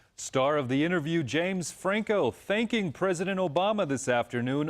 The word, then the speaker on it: Franco: mean president obama sorry this mispronunciation alluding to president obama mistakenly pronouncing james franco's last name as james flacco in recent statements about